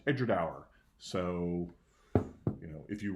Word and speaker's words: Edradour: means between the two rivers and it is pronounced Edgar tower so you know if you run a whisky